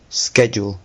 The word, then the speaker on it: schedule: There are two ways to pronounce this word. The US version and the non- US version. Yeah. So, the non US version is schedule.